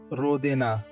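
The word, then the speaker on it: родина: Rodina. Rodina. Stress is on the first syllable.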